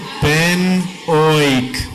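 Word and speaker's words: ⲡⲉⲛⲱⲓⲕ: You pronounce it pen-oik.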